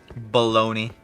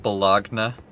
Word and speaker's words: bologna: Baloney. That's how it's pronounced. What, you want me to call it Bologna?